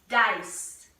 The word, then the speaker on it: dice: guess the vowel in the syllable dice you said I then you're ready duh eyes it's a silent E yeah silent e what about this one